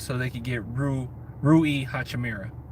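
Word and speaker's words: Rui Hachimura: they could get Roo Rui hotcha Mira I said it right this time because everybody kept getting on me the same route as Rui Rui Hachi Mira so what if and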